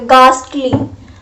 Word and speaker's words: ghastly: The correct pronunciation is ghastly, ga, याद रखना, ga, गास और स्टली तो आप प्रोनाउंस कर सकते हो, गास्टली, गास्टली, गास्टली इज द